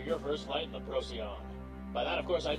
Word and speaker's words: Procyon: And as you heard, I pronounced the game totally wrong. It's Procyon, not Procyon.